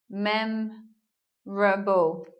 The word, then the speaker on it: memorable: and looking lastly at this word memorable memorable we're not hearing an O here mem Rumble so goodbye oh and then we make